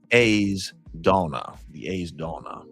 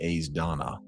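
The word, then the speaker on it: Aes Dána: The A's, so AES rhymes with pays or face. So it's like the A's Donna, and Donna rhymes with fauna. So this is the A's Donna.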